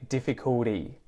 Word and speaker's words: difficulty: Difficulty, better, yeah, both of those, the T in each of those is pronounced with the T flap. So instead of saying difficult, I say difficulty.